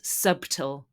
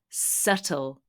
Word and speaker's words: subtle: spark of excitement subtle we don't pronounce the b it is not subtle it is subtle subtle means delicate or